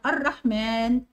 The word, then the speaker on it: الرحمن: عندنا الرحمن فيها حرف الالف، حرف الالف دوت بينطق ولا يكتب، يبقى هنعلم عليها.